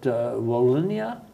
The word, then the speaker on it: Wallonia: Who we got Flanders, we got Wallonia. Is that the correct pronunciation? That's correct, yeah.